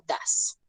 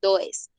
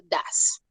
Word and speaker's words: does: En el presente simple utilizamos el auxiliar do o das. Bien, no se dice do ni se dice does. Se dice do o das.